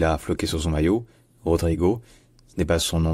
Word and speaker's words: Rodrygo: que ça se dit et surtout le O à la fin d'un mot en portugais ça se dit ou donc ce n pas Rodrigo c'est Rodrigo Rodrigo rrio Rodrigo bref